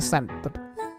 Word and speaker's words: scent: Bacanya scent ini. Ini kan SC. Bacanya scent.